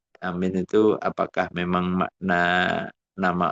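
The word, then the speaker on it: آمين: Qal ulama afakuha yang paling fasih ya yang ee yang paling anu ya yang secara fusha itu ya amin amin bil mad watakfifil mim amin ya a-nya a-nya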